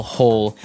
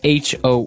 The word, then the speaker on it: hoe: make maybe a small hole in the ground you would use a spade and now our last tool has a Kind of a Funny spelling it's h o e and it's pronounced ho ho so again this